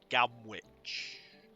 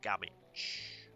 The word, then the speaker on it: Gamwich: I may have mentioned this before, but I'm British, so we don't say Gamwich. The W becomes silent, and we ignore it, and it's Gamich.